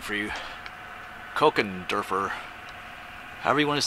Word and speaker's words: Kochenderfer: a name for you Coke and derer however you want to say that Coke it's a CH it's a C Sound and derer anyway there's a name